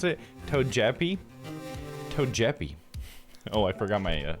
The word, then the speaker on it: Togepi: You know, I pronounce it Togepi like the Pokemon.